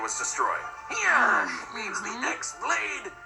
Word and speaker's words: X-Blade: Yeah, means the X-Blade. It's just pronounced like Keyblade, even though it's just one Keyblade.